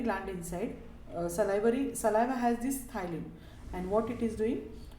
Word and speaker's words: ptyalin: The spelling is P-T-Y-A-L-I-N-E, but the pronunciation is the ptyalin.